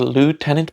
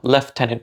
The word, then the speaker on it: lieutenant: And for some reason, Americans picked up the lieutenant pronunciation and Brits picked up left tenant pronunciation even though we spell it L.